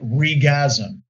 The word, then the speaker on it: RegAsm: And remember, Jeff, we have to pronounce it regasm, because that's how it's actually pronounced.